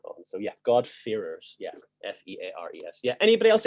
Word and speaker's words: God-fearers: Yeah, so it's God-fearers. So F-E-A-R-E-R-S. That's basically my accent being from Northern Ireland is the problem there, really.